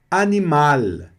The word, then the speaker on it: animal: Ele é um L que sobe bem aqui na ponta da língua, na frente aqui da boca.